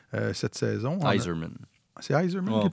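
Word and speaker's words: Eiserman: Cole Esserman, cette saison. Iserman. C'est Iserman qui On prononce? prononce Iserman, oui. OK. Ça s'écrit juste pas pareil.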